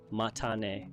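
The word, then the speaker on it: またね: Did I hear that correctly, or is this, again, matane? It's definitely matane with a clear T sound. Japanese doesn't have that TH sound, so you heard me say mata, and you're right on track with matane.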